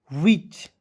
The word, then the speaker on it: which: चलिए उसके बाद देखिए यहाँ पे WHICH, WH का पढ़ेंगे व, आई से छोटी की मात्रा, CH का पढ़ेंगे च, विच।